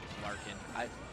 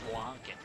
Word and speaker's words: Flarkin: I think it's Flarkin. When I first heard it, I thought it was Flonkin. I think it's pronounced, though, more like Flarkin.